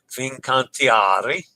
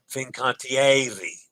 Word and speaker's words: Fincantieri: Fincantiari. Ari, not Ari. Fincantiari. Ari. Fincantieri. Ooh. Yes, I did pronounce that syllable incorrectly.